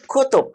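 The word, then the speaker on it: كتب: copy-nya artinya hobi betul kutub kita bacanya pendek kutub-kutub kutub buku-buku kitab-kitab beda dengan kitab kalau itu panjang alisnya kita ini kutub-kutub buku-buku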